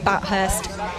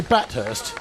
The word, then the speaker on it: Bathurst: so so so entertaining did you say batthurst did I that's not how you say it Bathurst oh sorry lots of